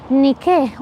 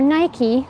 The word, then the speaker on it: Nike: have this depiction of the Goddess Nikkei or Nike depending on which way you want to pronounce it from ancient Greek which